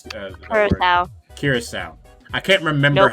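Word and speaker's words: Curaçao: Curacao. Curacao. I can't remember Nope. how it's pronounced. Not cure, just curacao.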